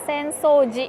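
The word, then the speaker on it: 浅草寺: Ini kalau enggak ada kanji paling belakangnya disebutnya dibacanya tuh Asakusa. Tapi kalau ada kanji paling belakangnya disebutnya sensoji. Jadi itulah susahnya bahasa Jepang.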